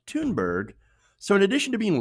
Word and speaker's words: Thunberg: a garbage person also her last name is pronounced tune bird so in addition to